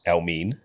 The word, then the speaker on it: Elmiene: so I missed that which was Elme um spelled E L- M E A N so he was already telling people how to say his name from early basically